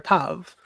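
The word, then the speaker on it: תו: modern Hebrew pronunciation because the moderns have a V here because of the Germanic influences and the ancients have a W.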